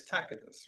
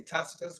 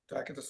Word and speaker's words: Tacitus: Well, here is a historian named Cornelius Tacitus, right? A lot of people say Tacitus, but in Latin, the C is pronounced as a K.